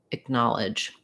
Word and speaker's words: acknowledge: have first syllable stress it's helpful to start where the word is stressed and then build from there that would sound like knowledge acknowledge you can hear how that first syllable that a c syllable that time or that a c k it's really quite short in the dictionary uh they have it written as vowel schwa which would sound like uh acknowledge i think that's a